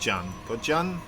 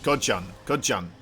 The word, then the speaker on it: ZOUN: In Korean, they pronounce it as Kodjan. Instead of Kozan, it's Kodjan. I don't really have a sound for the Z, so ZOUN. So that's how I learned how to pronounce ZOUN. Now you know.